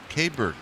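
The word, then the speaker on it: Keibert: Kabert is how you pronounce his first name.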